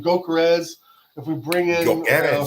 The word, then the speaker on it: Gyökeres: And it goes again to where if we do bring in a Gyökeres, or that's how you say his name, Gyökeres, if we bring in a striker, Oshimen, whoever, I'm telling you guys, that puts Kai Havertz at left mid.